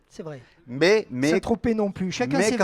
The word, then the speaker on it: Saint-Tropez: Quand on prononce nez, on ne prononce pas non plus le Z. C'est vrai. Mais Saint-Tropez non plus.